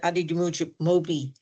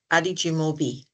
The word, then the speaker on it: Adi Mobi: Thank you very much Mr. Adid Moi. I've mispronounced your name. Let me say it again. Adi Mobi.